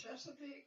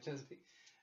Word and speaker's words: Chesapeake: Chesapeake. Yeah, that's correct. Yeah, Chesapeake.